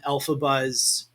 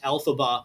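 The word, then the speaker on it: Elphaba: Uh and another fun fact, the name of the Wicked Witch of the West, Alphaba, is actually just the three letters of the author, phonetically speaking, EF or Alphaba.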